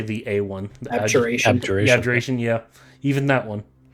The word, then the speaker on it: Abjuration: Abjuration.